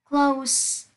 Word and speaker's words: close: Close là tính từ sẽ đọc là S. Còn close động từ sẽ đọc là close, là Z.